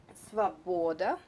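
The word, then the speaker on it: свобода: If you remember, this O not under the accent is read like A. Svoboda.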